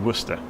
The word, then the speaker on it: Worcester: you've ever come across like Worcester which is spelled Worcester Shire also Worcester it is actually Worcester and then reading which